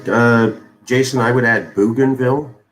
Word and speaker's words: Bougainville: b o u g boog b-o-u-g gain as in uh getting something g-a-i-n so b-o-u-g g-a-i-n boob game oops why does it do that what is it bougainville i misspelled that um